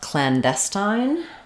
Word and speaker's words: clandestine: about clandestine um so clandestine is stressed on the Des syllable um we have the a vowel here um so Clan a little secondary stress on Clan clandestin um we have the I dip Fong letter e makes the I say its name um